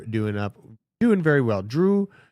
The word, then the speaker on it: Drew: up doing very well Drew your name rhymes with goo this is true very